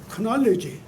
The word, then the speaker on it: knowledge: 근데 왜 그렇게 됐을까? 왜 K가 나왔을까? 저는 항상 그게 의문이 돼요. 그냥 knowledge로 쓰면 되는데 또 발음을 그러면 knowledge로 하든지 이거 발음하고 안 맞단 말이에요.